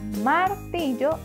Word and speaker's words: martillo: perfecto y la palabra martillo tiene tres sílabas la sílaba que le falta es la sílaba yo esta sílaba la formamos con la doble L y la o martillo gran trabajo amigos